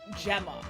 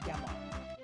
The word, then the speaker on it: Gemma: It's pronounced Gemma. I think that's how we've been saying it the whole time anyway. But yes, it's it is Gemma, not GMA.